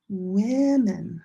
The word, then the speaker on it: women: And one woman but two women. This changes. This is different. Let me go back. Woman. Women. I women.